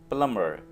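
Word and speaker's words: plumber: प्लम्बर प्लम्बर यहाँ पे आपने बी को नहीं पढ़ना है, बी यहाँ पे साइलेंट है और ये वर्ड होगा प्लम्बर।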